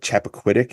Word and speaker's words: Chappaquiddick: Almost like the Zapruder film a little bit added in there with was it Chappaquiddick?